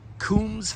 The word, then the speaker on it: Combs: The Kums family c o m bs or combs but I think it was it's pronounced kums.